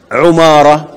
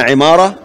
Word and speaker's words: عمارة: يبقى كل ما ورد في هذا الاسم بهذه البنية بتلك الحروف كله بضم العين إلا أبي بن عمارة، فهو بكسرها على أصح الآراء. عندنا يبقى عندنا عمارة وإيه؟